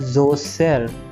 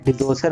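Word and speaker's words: Djoser: है pyramid of जोसेर, लेकिन इसको जोसेर नहीं लिखते हैं, यहाँ पर एक डी लगा होता है, इसका कोई मतलब नहीं है, प्रोनाउंसिएशन नहीं होता, तो इसको हम पिरामिड ऑफ डिजोसेर नहीं पढ़ेंगे जबकि पिरामिड ऑफ जोसेर कहेंगे।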